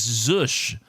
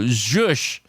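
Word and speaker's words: zhuzh: by the way, is Zush. Z-H-U-Z-H. So we might have 2 in a row for the first time ever. So Zush, I think, is the right pronunciation.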